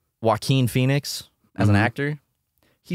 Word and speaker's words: Joaquin: They say I say it like the verb, Joaquin Phoenix. Joaquin Phoenix?